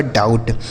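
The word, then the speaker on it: doubt: अब बी यहां साइलेंट होता है। टी से ट हो गया। लिखा गया आपका डाउट। डी ओ यू बी टी। इसे पढ़ा जाएगा दोस्तों डाउट।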